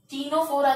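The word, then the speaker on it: Ctenophora: टीनोफोरा कहते हैं, सी silent है इसका.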